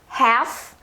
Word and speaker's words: half: Então, it's half past 1. Então, nós não pronunciamos esse L aqui não, tá?